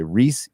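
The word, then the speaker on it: Rhys: Oh no, Reese Fiennes. Okay. I don't know the actors. Who are the characters? Otto. Otto Hightower, the Hand of the King. Otto? He's the second son. Okay, so he is not the Lord of the High Tower, which they mentioned in the first. So that's, how do you say that name? Welshman? I can't say that. So, just Reese. Reese. It's Reese.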